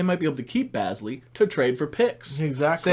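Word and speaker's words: Bazley: big that had potential, Basley, which is not Bagley. He's Basley.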